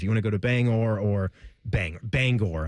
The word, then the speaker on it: Bangor: Like if you're going on up to to Maine, if you want to go to Bangor or Bang Bangor, I believe you got to pronounce the G.